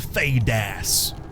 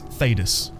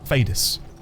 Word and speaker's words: Thedas: I think you pronounce it with a bit less emphasis on the ass. Thedas. Oh, so instead of Thedas, it's Thedas. Thedas.